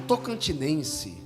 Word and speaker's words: tocantinense: O tocantinense, a pronúncia certa é essa, faz parte desse sentimento receptivo, né?